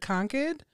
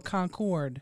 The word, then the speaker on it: Concord: Is it Concord or Concord? Concord in New Hampshire, but I guess in North Carolina it's Concord. Right.